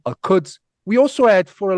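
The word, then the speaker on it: القدس: So the city in Arabic, it's called Al-Idis, or Al-Quds in the colloquial, we say Al-Idis.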